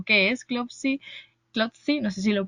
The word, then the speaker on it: Clotsy: Así que nada, quiero que nos cuentes un poquito sobre quiénes sois vosotros, quién es Clopsy o qué es Clopsy, Clopsy, no sé si lo pronuncio bien.